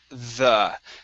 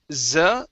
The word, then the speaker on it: the: at is the word the um so instead of z it's the try that okay and